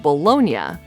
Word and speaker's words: Bologna: of the city of bolognia sounds as if it has an i a at the end meaning it was subsequently